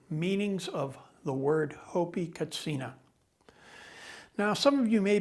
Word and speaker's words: katsina: 20 years or so we've moved at the urgings of the hopi to pronouncing the word katsina because there's no chus sound in the hopi language so out of respect